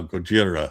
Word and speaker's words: Gojira: is now Gdora and Godzilla is now Gojira. We're we're actually trying to say the I guess Oh, we're trying to pronounce them properly like using the Japanese term for him instead of